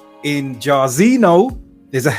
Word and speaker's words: Jairzinho: Just like in Jairzinho, there's a H there. Yes. NHO at the end. The H is silent.